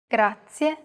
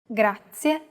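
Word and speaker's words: grazie: it in lesson two even though it looks like the english r the pronunciation is very different listen to how marika is pronouncing this sound altogether it's grazia one last time grazia the next phrase we'll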